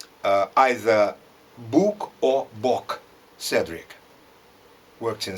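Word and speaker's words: Boeckx: of the cedric books as i called him books but it happened that i pronounced his surname wrongly alongside with others because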